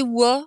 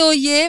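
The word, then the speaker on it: Oye-Plage: Oui, c'est pas Oyer, c'est Wa. On dit Wa Ah, c'est plage. Oui. Wa-plage, ça ça existe? s'écrit Oyer, mais ça se prononce Wa.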